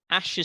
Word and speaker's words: Asch: another famous one um ash's study ash is spelled asch ash ash's study into conformity